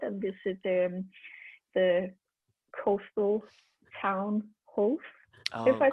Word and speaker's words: Howth: little bit outside and visit the coastal town Hove, if I pronounce it correctly.